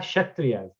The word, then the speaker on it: Kshatriya: Then we have Kshatriyas. Kshatriya actually starts from K is silent.